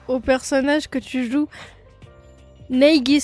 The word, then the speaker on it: Naegi: Neigi, ça se prononce. Ah ouais? J'étais persuadée que c'était Neiji et pas Neigi. Ok.